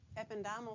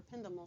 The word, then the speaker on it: ependymal: cells then you have ependymal cells or ependymal cells i've heard it pronounced both ways and inside your brain